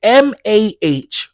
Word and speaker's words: Mariah: And Mariah is Mahriya.